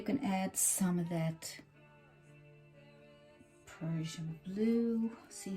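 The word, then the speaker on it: Prussian blue: I have some really dark blue, P-R-U-S-S-I-N-I-A-N, Persian blue. I want to pronounce it right for you so you know what you want to get.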